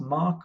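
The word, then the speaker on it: Moq: tests pro project and I'm going to search for Machu it's pronounced mock or mocku EIC install okay let's try again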